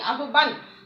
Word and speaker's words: আহ্বান: তাহলে এখানে হয়ের সঙ্গে ব যুক্ত হয়ে ব মহাপ্রাণ রূপে উচ্চারিত হচ্ছে। তাহলে এর উচ্চারণটা হবে কি? আহ্বান।